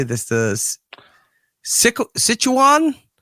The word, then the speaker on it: Sichuan: the Sichu Sichuan Sichuan province Sichuan province in China on November 11th.